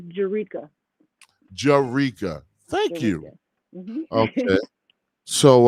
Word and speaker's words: Jerrica: so without further ado let's bring in miss jericho wait right here on djc radio global welcome